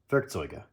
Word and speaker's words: Werkzeuge: on the fact that the E must be pronounced in German, that I was here missing the E on the word Werkzeuge.